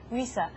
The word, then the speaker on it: Riza: Risa. My dad says Risa kasi he doesn't pronounce the Z.